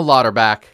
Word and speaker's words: Lauterbach: the wonderful the illustrious the very funny lauterback you pronounced it right yes I spelled it on